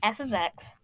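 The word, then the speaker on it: f(x): If you see something like this, if you see that f of x, that f parentheses x is pronounced f of x is equal to mx plus b, that's the same thing.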